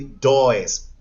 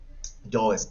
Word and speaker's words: does: listen the pronunciation because a lot of people pronounce this auxiliary dois does no and it's not doing is does does